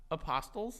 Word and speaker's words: apostles: Apostles? Apostles. No. No, Frankie. They're apostles. But it's spelled with a T. I'm aware. But in the English language, there are silent letters.